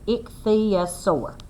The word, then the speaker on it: ichthyosaur: love the way that tells us how to pronounce it ichthyosaur the man told her that means fish lizard